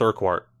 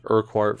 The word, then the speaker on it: Urquhart: I'm going with Urquhart, as in rhyming with Marquardt.